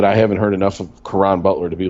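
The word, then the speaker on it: Caron: nope uh and oh i'm sure i'm not pronouncing this right karen butler k-ron butler c-a-r-o quran quran okay i knew i see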